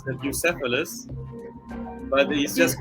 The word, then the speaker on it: Bucephalus: I guess there's an English pronunciation as well. It's Bucephalus, but he's just called Buki for short.